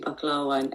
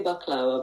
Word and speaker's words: baklava: We pronounce it actually baklawa in my pronunciation is terrible. Sorry. No, you have everyone called the baklava because that's how it's spelled everywhere, but we'd say baklawa, but anyway, it's going